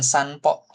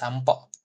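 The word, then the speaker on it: さんぽ: Nah, ini pakainya sampo bacanya, bukan sanpo gitu ya. Jadi ada memang bunyinya seperti itu pakai M. M kalau kita di Indonesia itu sampo. Walaupun hiragananya N gitu ya.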